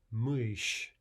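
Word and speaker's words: мышь: Mysh. Again, no difference in the pronunciation of the sh.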